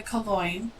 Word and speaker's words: Calongne: Calongne. And yeah, my name rhymes with coin, which is why I never use it.